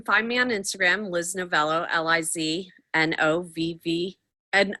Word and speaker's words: Novello: easily butchered but then I became novello and people call me novella and I'm like it's an O oh um Facebook same